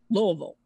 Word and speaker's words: Louisville: just moved here they said it's Louisville Louisville like Elvis well thank you very